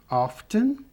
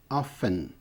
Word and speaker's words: often: Aqui, frequentemente, often ou often.